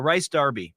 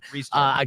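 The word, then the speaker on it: Rhys Darby: Rice Darby. Yeah. Well, it's actually Reese is how you pronounce his name. Reese Darby.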